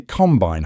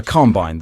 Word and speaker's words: combine: A combine, the stress is on the first part. Combine. Combine. To combine, the stress is on the second part.